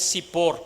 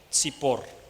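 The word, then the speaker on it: צפור: término hebreo para gorriones sipor con t se escribe así tz IP o r sipor y significa ave pequeña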